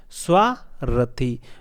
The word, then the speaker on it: स्वार्थी: स्व रथ। देखिए यहां पे स्वार्थी और स्वार्थी। इसमें उच्चारण का फर्क है। इसमें स्वार्थी र आधा है और इसमें र पूरा है।